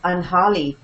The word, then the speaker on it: Anjali: Even this they call, because this being Texas, often they say the Anjali, the Anjali dance. And I have to turn and tell them, we're not Spanish. And then they say the Anjali. Oh, we are not French either. How do you say it? Anjali. And they say the Anjali? No. Anjali?